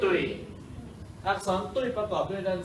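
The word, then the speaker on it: 对: คำ ว่า ถูก ต้อง ตุย ตุ อ่า คำ ว่า ถูก ต้อง คำ ที่ 3 อ่าน ว่า ตุ ตุ้ย ถูก ต้อง ฉัน เรียน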